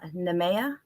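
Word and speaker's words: Nemea: wines and this is from namea greece and i actually got that pronunciation um from a family member who is greek and so i was able to confirm that that is the appropriate pronunciation name of that region so the gaia estate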